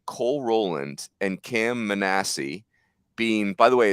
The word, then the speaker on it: Manassi: But I felt like Cole Rowland and Cam Manassi being, by the way, it's pronounced Manassi like Jack Manassi. It literally says the word ASS in the pronunciation guide, which is amazing.